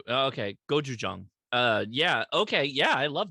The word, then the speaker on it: Gochujang: There's a place called I'm not gonna pronounce this right. Daka beer, 6.6 ABV. It's a kimchi sour with gochujang and ginger. Gojuju. Okay. Gochujang.